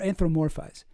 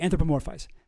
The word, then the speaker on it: anthropomorphize: Anthropomorphize or anthromorphize? Anthropomorphize? Anthropomorphize. Yeah. Yeah. Okay. Anthropomorphize. That's how you say it.